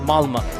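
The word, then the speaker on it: Malmö: Malma it's is spelled with an O but is pronounced Malma.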